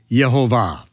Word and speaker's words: Yehovah: vowel pointings, to where we know his name will be pronounced, and should be pronounced, Yehovah.